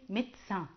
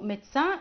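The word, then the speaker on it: médecin: طيب وعندي مهن برضو ما بتتغيرش خالص زي كلمة ميدسان، ميدسان ميدسان اهو ميدسان مي دو سان، بس انا لما اجي بنطق فبقول ميدسان على بعضه.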